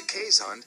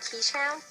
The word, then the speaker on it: Keeshond: smile, and the Keeshond is one breed who will smile back.